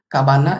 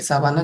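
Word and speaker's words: cabana: काबाना या फिर साबाना जो भी आप प्रोनाउंस करें सी ए बी ए एन ए वही है।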